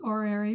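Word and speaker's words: horary: at a chart in or area astrology I pronounce it or Airy because I have French background and the H is silent so um that it's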